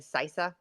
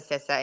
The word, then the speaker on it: CISA: southern boy like and he's pronouncing sisa wrong he's saying cisa um and then the government attorneys stand up and they're like sisa Sissa and he goes oh that's how you all say it there in DC and it